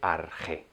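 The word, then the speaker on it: arché: de arge principio Eh Esto se escribe de distintas maneras arge arque porque es una traducción Bueno una traslación del griego y no tiene una correspondencia Pero bueno el sonido es arg Y luego vienen otros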